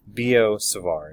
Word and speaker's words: Biot-Savart: in the book it rhymes with Leo bizarre all right rhymes with that so it's biot-savart is how you pronounce